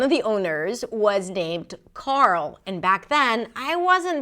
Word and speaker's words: Carl: The reason why it's so tricky is because there is an R sound and then a dark L. And sometimes this combination is challenging for new speakers of English.